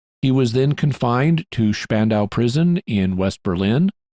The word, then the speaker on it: Spandau: He was then confined to Spandau prison in West Berlin. In German, the name is pronounced Spandau. In English, it's pronounced Spandau, and you may hear me say it both ways.